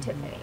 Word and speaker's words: Tiphanie: Basically, Tiffany Music is where you can find me everywhere on Facebook, Instagram, Twitter, website, and Tiffany is spelled Tiphanie, like Stephanie, but Tiffany.